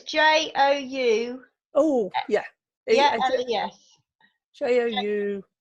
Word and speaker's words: Joules: Jules. As in, Jules the clothing company, because they're opening a new head office in Market Harborough. Okay, how do you spell that one? So it's Joules.